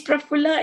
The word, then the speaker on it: Prafulla: How do you spell it? And I said, it's Prafulla and it's going to stay that way.